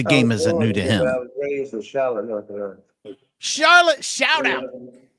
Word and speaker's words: Charlotte: isn't new to him Charlotte shout out he said it right too Charlotte Charlotte it's not Charlotte Charlotte Charlotte rise up